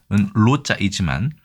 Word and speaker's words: 露: 그러면 이 노자는 원래는 발음은 로자이지만 어떤 뜻을 가지고 있을까요?